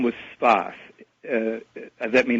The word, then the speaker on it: Sfath: Whose name was Sfath. That may not help matters, but he was called Sfath. I believe that was spelled S-F-A-T-H.